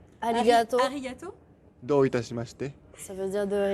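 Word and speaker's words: ありがとう: je vais bienigato arigato ça veut dire de rien alors en japonais tu prononces jamais le r en fait ah ça s'écrit har gate ouis mais on dit aligato les r se prononcent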